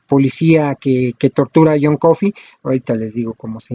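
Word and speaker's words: Coffey: que protagoniza a john coffee el nombre visión confirmaran suena como el café pero se escribe diferente y creo que es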